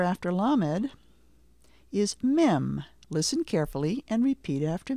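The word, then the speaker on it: מם: again lamed the next letter after lamed is mim listen carefully and repeat after me m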